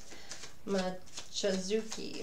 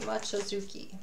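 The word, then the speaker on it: Mochizuki: And that's how I knew how to pronounce her name. Mochizucki. Mochizucki.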